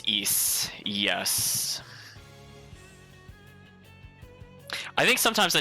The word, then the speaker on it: Ys: oh yantas is saying apparently the ys series is pronounced east yes i think sometimes